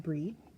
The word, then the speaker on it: Brigid: coming hey Bri so her name looks like it's Bridget it is pronounced breed okay creative spark there